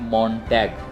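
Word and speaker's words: Montag: तो ये चांद का दिन है, ये भी दूसरा इम्पोर्टेंट दिन है और जर्मन में इसको प्रोनाउंस करते हैं, इसको बोलते हैं मॉन्टैग।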